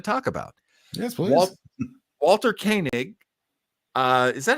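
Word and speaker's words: Koenig: I was gonna talk about yes please Walter kanig uh is that how you pronounce it how do you pronounce it John my understanding is it is properly pronounced as kig kig kig yeah uh he was not hired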